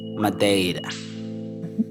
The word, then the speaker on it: Madeira: In South America, we would pronounce this plant as Madeira.